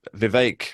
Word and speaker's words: Vivek: My electoral math on this, and it might not be accurate, but you made a point earlier, Lisa, that Vivek rhymes with cake and many other words that are less flattering.